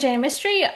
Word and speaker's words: Jaina Mistry: This is Jana Mystery. I hope I'm pronouncing that right. Jana, can you introduce yourself to our listeners? tell us what you do. Yes. So, my name is Jane Mystery.